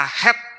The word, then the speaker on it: חטא: Dalam bahasa Ibrani, dosa ditulis dengan kata het yang pengucapannya itu sama persis dengan huruf Ibrani het yang memiliki beberapa arti.